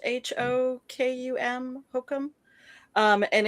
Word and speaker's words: Hokum: saw something recently actually called I think it's Hokum it's pronounced H O K U M Hokum um and it's it's it seems very